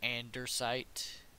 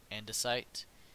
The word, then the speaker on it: andesite: he would pronounce it so andersite even though it's andesite it's gonna be andersite and I think that